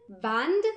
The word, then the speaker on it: Band: But the Germans don't like the D so much. Instead, we take many Ds and make a T out of it. Still, many Americans stick to their love for the D and pronounce German words wrong. Rund, Band. That's what we should say.